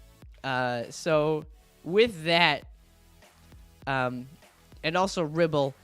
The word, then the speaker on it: Ribble: So with that, and also Ribble kind of rhymes with nipple.